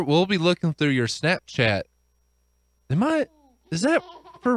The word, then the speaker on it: Snapchat: chat it's Snap Chat you have to have a little bit of a pause in order to emphasize chat your snap why did